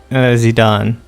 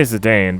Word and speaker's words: Zidane: Zidane. I say Zidane, but I know in Dissidia they said Zidane, and I was like, it's a French name.